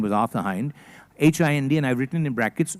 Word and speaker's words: Hind: H-I-N-D, and I've written in brackets, not pronounced as in Jai Hind.